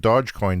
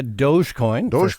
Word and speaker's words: Dogecoin: because people say that dodge coin is going to go up because of his appearance and it already is going up yeah uh dogecoin i think is the pronunciation doge and it's just another